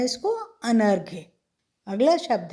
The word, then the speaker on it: अनर्घ्य: पहला शब्द है अनर्घ्य। अनर्घ्य, इसका अर्थ होता है कम कीमत का या जिसका मूल्य ना हो। तो क्या पढ़ते हैं इसको? अनर्घ्य।